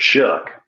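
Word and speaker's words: Shough: Shock, I don't know how you pronounce it. Shook. Shook.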